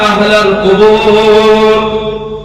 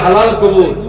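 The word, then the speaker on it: أهل القبور: আসসালামু আলাইকুম ইয়া আহলাল, বলে অনেকে বলে ইয়া হালাল কবুর, মানে আরবি যারা পড়তে পারে না তাদের উচ্চারণ গুলো সমস্যা হয়। আসসালামু বলেন, আলাইকুম ইয়া আহলাল, আহলাল কুবুর, আসসালামু আলাইকুম ইয়া আহলাল কুবুর।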